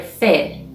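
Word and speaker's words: ف: the 23rd letter is letter fe which is pronounced for example like far in english and at the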